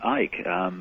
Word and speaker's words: Icke: They called me Ike. They called you Ike? Yeah. I mean, you don't pronounce the C.